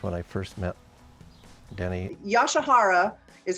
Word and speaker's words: Yasuhara: Yoshihara is how we pronounce it, but Mr.